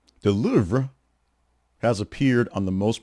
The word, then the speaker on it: Louvre: Linguists explain that English speakers often add an extra syllable to the listing or pronounce the R wrong, a bit too strong, if you will, while correct French pronunciation is more close to Louvre.